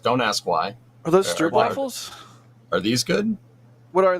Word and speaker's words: stroopwafel: Are those stroopwafels? Are these good? What are they? They're digestive. They're chocolatey goodness. Ooh, that does sound good. Yes. Love me a good stroopwafel.